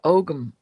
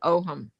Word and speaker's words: Ogham: It's the Ogham. It's the also said Oham. So if you hear it without the hard G, it's still correct pronunciation.